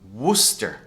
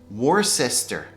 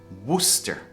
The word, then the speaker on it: Worcester: This is pronounced as Worcester. Worcester. But when you look at the spelling, it doesn't look like it, does it? So people make the mistake, they pronounce this Worcester.